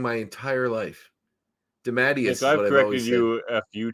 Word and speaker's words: DeMatteis: Man, I've been pronouncing it wrong my entire life. DeMatteis.